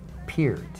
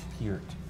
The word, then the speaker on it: Peart: Ear with a P in front of it and a T at the end. Peart. Peart.